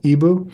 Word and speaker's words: EBOO: There's an advanced treatment called Ibu. It's spelled E O. Eboo.